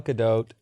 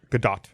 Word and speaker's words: Gadot: Gadot. Gadot. I get corrected every time. I've heard it pronounced 4 ways, so now I can never remember. Or the T is silent. Nope, Gal it's not.